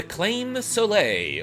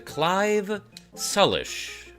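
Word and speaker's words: Claimh Solais: This is the claim sole or as I think it's supposed to be pronounced in like Gaelic or Irish, the Clive Sullish.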